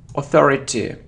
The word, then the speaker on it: authority: It isn't authority, it's or authority.